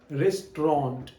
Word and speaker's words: restaurant: The next word is रेस्टोरेंट, रेस्टोरेंट, रेस्टोरेंट, RESTAURANT, RESTAURANT.